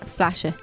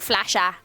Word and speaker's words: Flasche: The word is flashe. Who? Flashe. Flashe. Flashe. Yeah. Spell it. FLASCHE. Oh, CH. Flashe. Flashe. Kinda. Mhm. Not like flasher. No. No, flashe. Flashe.